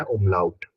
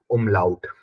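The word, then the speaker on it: Umlaut: डॉट लगा दिया double dot को बोलते हैं उला उट डबल डॉट को बोलते हैं उला उट ठीक है तो जो हमारे 26 लेटर्स है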